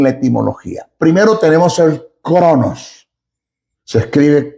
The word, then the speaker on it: Chronos: Primero tenemos el Chronos. Se escribe K R O N O S. Chronos.